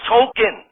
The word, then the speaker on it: Token: classmate token when Teddy was killed Belushi it's pronounced Tolkien but no I don't but it wasn't Tolkien